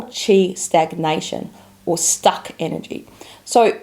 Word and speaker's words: qi: main reasons why we can get tired in China medicine one is that you don't have enough